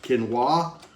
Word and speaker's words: quinoa: Uh, and we'll also be doing a canoa spinach blend. And for anyone out there who insists on telling me that's pronounced quinoa, put it in the comments below.